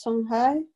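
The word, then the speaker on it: Songhai: people who speak the shanghai language and the pronunciation is shanghai or sang for instance i my background is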